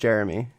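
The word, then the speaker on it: Jerami: He spells his name wrong, but Jeremy. Isn't it Jerome? No, it's definitely just Jeremy. It's Jeremy Grant.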